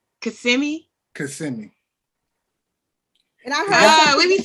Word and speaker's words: Kissimmee: I stayed in Kissimmee.